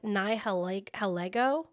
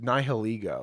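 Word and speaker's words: Nihilego: She ends up finding I'm going to butcher the name of this Pokemon. Nihil Helgo almost Nihiliggo.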